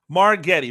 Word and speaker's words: Margittai: Well, I mean, if you're being American phonetic, then soft G with an I following it. So I understand where it's coming from, but you know, it's a Hungarian name. Margittai, Mike Margittai.